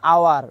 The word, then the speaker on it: hour: N is used before consonant sound if the first H of a word is silent, such as an hour, not hour, an hour. Here H is silent, so I use N.